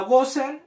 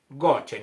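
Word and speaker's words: Goshen: todo lo que tienes la palabra gosen es la palabra Go se escribe se escribe en hebreo goen para que usted Arribita donde dice gosen le ponga gochen ya en su Biblia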